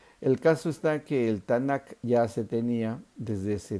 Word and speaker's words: Tanakh: Los cristianos llamamos así al Antiguo Testamento porque Tanakh o Tanaj con J, Tanakh como se pronuncia, realmente es un acróstico que significa tres cosas.